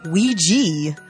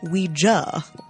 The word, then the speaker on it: Ouija: Commonly known as Ouija, but actually pronounced Ouija.